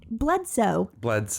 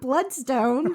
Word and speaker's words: Bledsoe: Bledsoe. Not Bloodstone. Oh my God, I've been saying it wrong all these years.